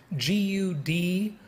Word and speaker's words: Gudrun: relocation would be the easiest and let me spell that by the way it's g-u-d-r-u-n gudrun g-u-d-r-u-n so uh the book is entitled